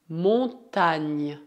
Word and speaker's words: montagne: ser pronunciada NH, som semelhante a N do espanhol, como na palavra mañana. Por outro lado, seria pouco errado comparar o NH do francês como NH do português, uma vez que o primeiro é pronunciado com a língua, enquanto o segundo vem da garganta. Por exemplo, une montagne, gagner, la campagne. Para finalizar, saiba que a